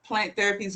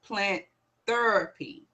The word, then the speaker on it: Plant Ther'py: you can go to plant therapy's website that is p-l-a-n-t-t-h-e -r-p-y dot Co no a there's no a so it's pronounced plant therapy plant therapy so that